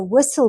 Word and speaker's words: whistle: He tried to climb the fridge to get cheese, but a whistle blew and made him listen for danger. Climb. Whistle. Listen. So climb is a silent B. Whistle. We don't pronounce the H.